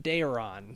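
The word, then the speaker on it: Daeron: Yeah, he didn't pronounce the silent e well enough in Deron.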